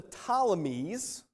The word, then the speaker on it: Ptolemies: israel one was the ptolemies that's spelt with a p uh riddle me that starts with the p the ptolemies that was